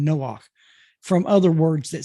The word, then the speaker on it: Noah: There's the word Noah. That's how it's pronounced in Hebrew. We say it in English Noah, but it's Noah in Hebrew.